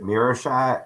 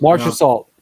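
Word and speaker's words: Marchessault: I know the name, but I'm going to mispronounce it. Is it Mirashat? Is that what it is? How do you Marcia Salt.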